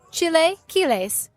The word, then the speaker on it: chilaquiles: Chilaquiles. Chilaquiles. No. Don't hurt you. Chilaquiles. Chilaquiles.